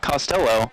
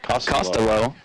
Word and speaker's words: Costello: She'll also have Morgan Gafford out there, Linnea Pitts, Abigail Lindsay, Caden Costello, not Costello, Costello. I had Coach specifically tell me that that is how it's pronounced.